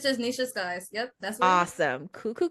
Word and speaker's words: Nisha Sykes: your name is that the best way to pronounce it no it's just Nicha SK yep that's awesome cool cool cool um for